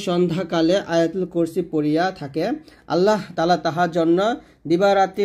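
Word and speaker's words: اللهُ: রাজিম বিসমিল্লাহির রাহমানির রাহিম আল্লাহু দেখুন আমরা এখানে প্রথম ভোল্টে করি আল্লাহু বলি এটা আল্লাহ বলবেন না যদি বাংলা আল্লাহ লেখা আছে তবে আরবি উচ্চারণ করতে হবে আল্লাহু এ হা পেশ এখানে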